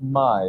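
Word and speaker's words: Maj: And your wife's name is pronounced Mai, isn't Mai. it? It's M-A-J, it's pronounced Mai.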